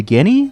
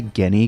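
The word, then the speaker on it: Ghini: of zelda franchise uh their names are spelled like g h i and i i'm not sure about the pronunciation i always say guinea because i don't feel like g like they're not genies so that's probably not right uh guinea is just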